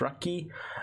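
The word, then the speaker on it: ラッキー: So Chansey is known as Lucky, pronounced Raki, and is a Pokemon said to bring joy and happiness with it.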